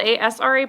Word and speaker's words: Asra: So for those of you who don't know me, it's spelled A-S-R-A, pronounced like U-S-R-A, so Asra.